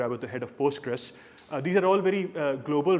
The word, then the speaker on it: PostgreSQL: So it's either Postgres or it's PostgreSQL. ठीक है? It's not Postgre, please.